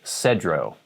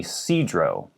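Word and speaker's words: Sedro: would see this and say cedro seems reasonable cedro but it's actually sidro sidrow woolly a lot of people who live in cedra wooly just call it woolly for short sidrow woolly here's a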